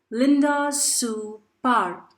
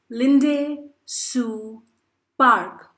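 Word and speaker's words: Linda Sue Park: authored or written by linda su par dear students you can even call her as linday sue park yes both the pronunciations to her name are correct linday su park is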